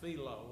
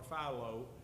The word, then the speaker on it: philo: beginning in the parentheses, that's PH. And so it's pronounced philo or philo, we'd say.